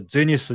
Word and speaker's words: ゼニス: 天頂と書いてこれゼニスになりますが、ライブではね、このシンプルさのこのゼニスね、非常にかっこ